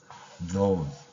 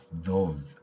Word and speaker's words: those: 쳐서 나타내고 있습니다이 발음은 혀를 물고 해야 됩니다 자 여러분들 또 한번 혀를 무는 시간이 돌아왔습니다 준비됐나요 자 혀 물고요 그 상태에서 발음 한번 해 보세요 those those those 저도 혀 몇 번씩